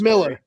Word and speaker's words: Millar: It's It's pronounced Miller. It's pronounced Miller.